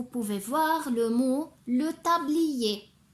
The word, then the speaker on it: tablier: voir le mot le tablier. C'est vrai qu'il y a à la fin la lettre R, mais je ne la prononce pas. Je ne prononce pas le son R. Le tablier.